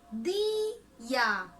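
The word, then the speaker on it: दीया: दिया, इसका उच्चारण हम कैसे करेंगे? भारी में, दिया, ठीक है। तो ये क्या हो गया? दिया। यहाँ हल्के स्वर में नहीं, भारी में स्वर से यहाँ पे दिया निकलेगा, दिया।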